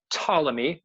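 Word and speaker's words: Ptolemy: on the Greeks uh tmy I know his name is PT but the p is silent tmy was an ancient Greek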